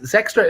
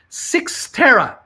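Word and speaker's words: Cyxtera: cciv is climbing uh sextra is pronounced six tara thank you someone's finally telling me how to pronounce this thing it's called six tara c-y-x-t-e-r-a i wish these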